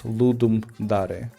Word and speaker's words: Ludum Dare: you if you don't know how to pronounce ludum dare.